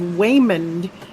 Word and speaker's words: Waymond: So, Hut Strickland's real first name is Waymond, spelled with a W, so it's like Raymond with a W.